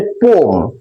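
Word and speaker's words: poem: একচুি উচ্চারণ হচছে পম।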